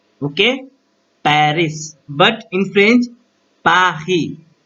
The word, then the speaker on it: Paris: We called in English like Paris. Okay, Paris. But in French, Paris, Paris, Paris.